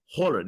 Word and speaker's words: Højlund: And he sounds like Haaland so much that every time I'm trying to say his name, I think of Haaland. Then I'm like, it's Holland.